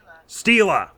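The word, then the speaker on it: stele: gravestone there you go it has it pronounced Stila ask for the steal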